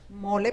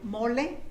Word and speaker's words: mole: I also brought mole poblano, which is the sauce that is very What's it called? Mole. Mole. Yes, that made with chocolate? It's spelled like mole. Yeah, mole. M-O-L-E. Mole, like a mole.